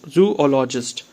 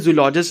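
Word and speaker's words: zoologist: मतलब ये है कि कई बार लोग क्या करते हैं जूलॉजिस्ट इसको बोल देते हैं लेकिन इसका जो करेक्ट प्रोनाउंस है वो क्या है जू लॉजिस्ट ठीक है मतलब जो लॉजिस्ट जो लॉजिस्ट मतलब ये है कि जो आपको बोलना है उसके बाद थोड़ा सा ब्रेक लेना है एंड उसके बाद फिर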